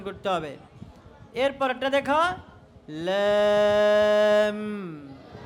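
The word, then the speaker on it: لام: করতে হবে এরপরেরটা দেখো লাম লাম লাম লাম বলার সময় লাস্টে ঠোঁটকে একটু চাপ দিতে হবে ঠোঁটকে দিতে হবে একটু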